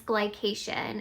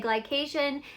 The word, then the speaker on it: glycation: And when I say glycation, some people have never heard of that, or even like, what is it? To me, I'm like, it can't be a bad thing, it rhymes with vacation, but actually glycation is